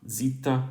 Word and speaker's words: zeta: for right now but so this will be pronounced uh zita and monography classically now let's go looks we